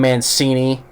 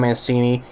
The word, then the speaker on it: Mancini: TV show freaking dumb Mancini or you probably see kids say fettuccine you know because it rhymes with it yeah Don Mancini go eat some fettuccine